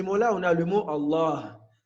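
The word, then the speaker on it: الله: Allah, après le lemme, on a l'impression qu'il y a une prolongation, on a un alif. Mais à l'écrit, on n'écrit pas ce alif. On le prononce, mais on ne l'écrit pas.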